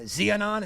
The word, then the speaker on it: Xiaonan: uh she's fighting Jan uh zionon is how you say your last name she's this is actually